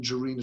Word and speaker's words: Jarina: I'm going to try and bring in Jarina Chowdhury. Jarina, forgive me, I don't know whether or not it's a hard J or not a hard J.